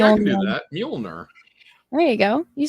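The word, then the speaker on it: Mjölnir: Mjolnir. Like mule, like a donkey. Then yes. Mjolnir. Okay, that's totally not spelt that way. No. Mjolnir. All right, I can do that. Mjolnir.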